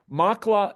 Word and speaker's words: Maqla: is the mountain range and Jabal Makla is the specific mountain. You got that? Makla, and it's spelled there in the screen, Maqla.